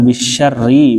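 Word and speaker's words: بالشر: Ya, bisyarri ini dia dibaca tebal atau tipis? Bisyarri atau bisyarri bacanya? Tipis ya, syarri. Jadi roh tasdid kan tadi nggak ada tuh dijelasin. Gimana kalau ketemu roh tasdid harokatnya kasroh, dia langsung tipis.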